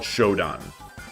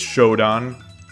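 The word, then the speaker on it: shodan: One don is usually pronounced as or you know is usually called shdon. There's a different kanji for it than one don. So it's shoddon but um but after that it becomes nidon.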